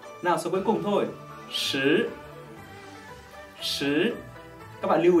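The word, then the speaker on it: 十: Số 10 là sứ, số 4 là sự. Các bạn nhớ đọc số 10, hãy tròn môi và rõ chữ.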